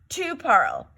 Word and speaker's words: tu parles: You do not pronounce that S there. So it's je parle, tu parle, il parle.